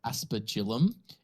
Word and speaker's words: aspergillum: anyone was wondering I just Googled it it's pronounced aspergillum and it is an Implement for sprinkling holy